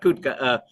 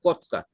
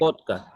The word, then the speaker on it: Kotka: Oh, no, not Kutka. I think when we get there, we'll hear the Finns saying kotka, because they say oh, they have this oh sound. So it's Okay. kotka.